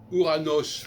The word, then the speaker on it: Uranus: Uranos, parce que c'est comme ça qu'il faudrait le prononcer, Uranus, ça correspond au 8.